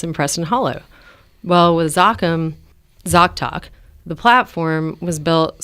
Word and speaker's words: Zoccam: So it's Zoccam, and just download it and use it. Pronounced Zoccam as in Soccam.